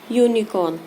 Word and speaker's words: unicorn: The same here, unicorn. Unicorn. Pronunciate this word. Unicorn. Then what sound is coming? U. Means ya. And it's a consonant. Means Vyanjan. It's not a vowel.